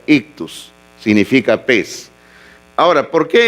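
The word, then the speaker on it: ἰχθύς: Ok, la palabra pez, hermanos, bueno, es esta que está acá en griego, así se pronuncia, ictus, significa pez.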